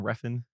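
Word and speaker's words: Refn: directed by Nicholas winding Reen is that how pronounce his last name refen yeah just how it's spelled okay yeah perfect this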